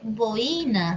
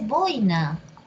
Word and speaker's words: boina: huían sí Y ojo no se dice boina se dice boina Qué linda tu boina